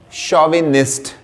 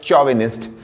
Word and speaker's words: chauvinist: is chauvinist c-h-a-u-v-i-n-i-s-t so we speak it as chauvinist when I was younger I used to pronounce it pronounce it as chauvinist but later on I came to know it